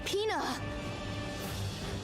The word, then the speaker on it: Pina: It sounds like peanut but without the T.